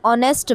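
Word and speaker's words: honest: एन ऑनेस्ट मैन एच आ रहा है बट सुनने में ऑनेस्ट डन।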